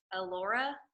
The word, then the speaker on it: Allora: gonna move on so ello or how do you say your name oh my gosh I've met you a hundred times allora is that how you say it okay good alright I